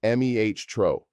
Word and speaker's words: metro: Subway or metro is metro, pronounced meh-tro.